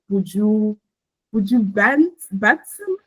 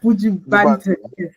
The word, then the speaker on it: Buju Banton: And from there, he was touring with Buju Batson. How do you pronounce that name? I'm so Buju sorry. Banton. Yeah, Buju Banton.